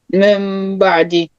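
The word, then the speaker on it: مِنْ بَعْدِ: So if you have nun sakin followed by ba, you have to change nun sakin to mim, saying what? This is the way how we should pronounce it. Min Ba'di.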